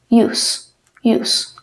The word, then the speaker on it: use: pongo Cómo se pronuncia Recuerden que en el inglés escribe de una forma y se pronuncia de otra use usar la e al final no tiene sonido en la gran mayoría de palabras en todas las palabras casi no tiene sonido y por ejemplo la